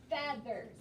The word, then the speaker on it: feathers: it should be feathers because there's two vowels and the e should be long but it's not it's breaking the rules so this one is a short e it is feathers repeat after me feathers